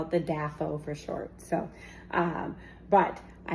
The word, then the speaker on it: DAFO: It is the DAFO, Deluxe Air Fryer and Oven.